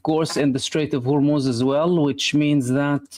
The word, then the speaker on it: Hormuz: And simultaneously, two oil tankers caught fire in the straight of Hormuz.